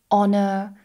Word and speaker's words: honor: Now there are some exceptions where we do not pronounce the H, and many of these actually come from French. For example, hour, honor, honest, air, and also some letter